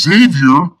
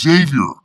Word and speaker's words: Xavier: Well, I was all in for it until you called my middle name wrong. It's Xavier.